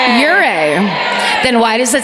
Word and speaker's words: Ouray: Miraculously, on January 21st, 1874, they stumble upon a Native American encampment near Montrose, led by Chief Ouray. Ouray. Then why does it say our? Literally Ouray. Spell it like you say it, Chief Ouray.